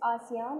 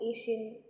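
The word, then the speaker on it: ASEAN: The correct pronunciation is आसियान और आसियान. That is नॉट एशियन या एशियन ऐसा तो यू can call it, but that is नॉट the correct pronunciation. It इज आसियान.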